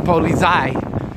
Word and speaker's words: Polizei: And that's how you say it in German, Polizei.